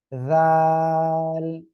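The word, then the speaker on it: ذال: জিহ্বার আগাটা ওই দুই দাঁতের আগায় লাগান, ওই দুই দাঁতের আগায় লাগান, সামনের উপরে দুই দাঁতের আগায় লাগান লাগান, লাগিয়ে উচ্চারণ করতে হবে জাল জাল জাল।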